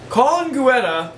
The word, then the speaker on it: Colin Guetta: You've told me your name, but I don't know how to pronounce it. Colin Guetta. That's it. Yeah, that is it.